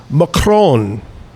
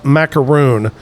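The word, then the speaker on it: macaron: Uh Kevin Kevin uh he said that actually it's pronounced macron. That's the proper way to pronounce macaroon.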